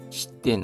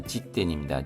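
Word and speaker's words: 時点: 시덴 아니라 지된입니다.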